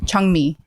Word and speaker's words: Jung-mi: Chungmi. Chungmi? Yeah. How do you spell it? JUNG-MI. But it's pronounced Chung?